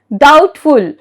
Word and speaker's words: doubtful: Doubtful, D-O-U-B-T-F-U-L, doubtful.